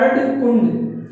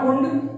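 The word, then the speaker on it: Erdkunde: अर्धकुंड इनकी एक किताब थी जिसका नाम है अर्धकुंडे, नॉट कुंड, अर्धकुंडे। ठीक है, ये इनकी किताब थी, तो प्लीज आप इसको भी नोट कर लीजिए।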